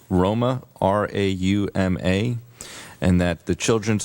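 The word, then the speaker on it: Rauma: It was just a quick spelling for instead of it's Loma, Finland, it's pronounced Roma, R-A-U-M-A, and that the Children's Oasis International was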